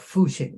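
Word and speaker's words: 复兴: So the Fu, this is pronounced Fuxing.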